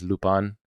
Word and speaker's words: Lupin: Now, the proper pronunciation of Lupin is Lupin, but I find that to say Lupin the entire series is going to be a little bit.